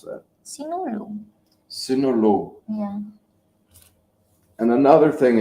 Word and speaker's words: Sinulog: How do you pronounce that? Sinulog.